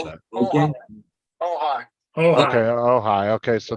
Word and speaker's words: Ojai: Okay, so with the actual location of it, the town name is OJAI. I'm not sure how you pronounce Oh, that. okay. Oh, hi.